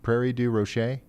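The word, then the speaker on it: Prairie du Rocher: Is the first part right though? Prairie. Prairie. Do Rocher.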